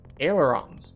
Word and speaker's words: ailerons: Ailerons. Okay. It's exactly how it's spelled.